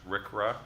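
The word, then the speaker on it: RCRA: federal government passed the resource conservation Recovery Act Rick ruff that's how we pronounce that which set out national goals for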